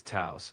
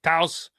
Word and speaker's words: Taos: No worries, it's Taos, like house with a T. And hey, pronunciation hurdles are just part of the fun. We're all here for the wild stories anyway, right? All right, Taos, like house with a T.